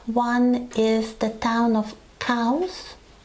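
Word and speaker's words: Cowes: important elements here one is the town of cows not spend is spelled like the animals as you can see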